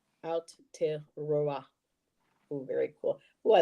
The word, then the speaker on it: Aotearoa: Okay, so it's pronounced whoop, Aotearoa. Aotearoa.